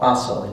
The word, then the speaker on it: Baso: And Nanchen was a disciple of one of the sort of founders of Zen, Maatsu, called Baso in Japanese.